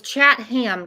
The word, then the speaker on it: Chatham: guys stop I heard that too so it's Chatham County all right every case I mispronounced the County's name yeah I think it's